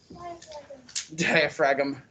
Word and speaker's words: diaphragm: Diaphragm. Yeah, the G is silent.